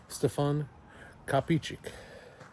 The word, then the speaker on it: Stefan Kapičić: I brought a book to the table of Stfan Capich.